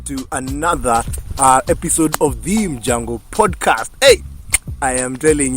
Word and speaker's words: Mjango: I'm telling him that is pronounced as Mjango. Mjango, because how do you pronounce mongoose, my friend?